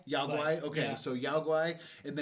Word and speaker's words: Yao Guai: Is that how you pronounce them? The bears? I always said Yao Guai. Yao Guai?